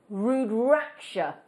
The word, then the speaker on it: rudraksha: are now we're calling these we hope we're pronouncing it right rudraksha that's what we think that's what we think